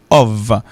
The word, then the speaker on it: of: Donc, si il prononce O, le mettez F avec, il prononce OV. Donc, OF prononcé comme OV.